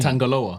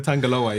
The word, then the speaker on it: Tangaloa: I I never I never knew how to pronounce his name. Tangaloa. Tangalo. Is it Tangalo? I thought you were joking. Tangaloa. Tangaloa.